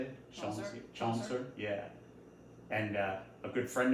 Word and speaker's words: Chaucer: Well, it comes from Chauncey. Is that how you say it? Chaucer?